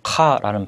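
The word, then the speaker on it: خاء: 이 아랍어에서 카라는 발음은 한글의 키읔과 달리 약간 목을 긁는 듯한 긁는 듯이 이렇게 발음을 하시면 되는데요.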